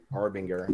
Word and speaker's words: Arbinger: Arbinger, yeah.